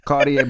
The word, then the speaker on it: Kardea: I said it right? Kardea. Like the glasses.